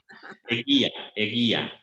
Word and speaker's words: Eguía: How do you pronounce this one? Viña Eguía. This is even more difficult. Eguía.